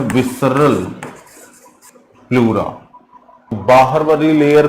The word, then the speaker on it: pleurae: और आपसे इस लेयर का नाम पूछा जाता है, तो इस लेयर का नाम है प्लूरा। याद रखिएगा, ये है प्लूरा।